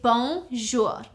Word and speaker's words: bonjour: So to say hi, hello, hey, you would simply say bonjour. It's 2 syllables, bonjour. So you'd say bonjour.